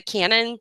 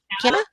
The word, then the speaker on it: Canna: The Cannon, or how do you say that? Canna, Canna.